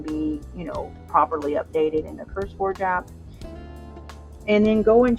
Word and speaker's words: CurseForge: So with the new update, go in, if you're using CourseForge app, you really want to go into CourseForge. CurseForge? I'm saying it wrong. CurseForge.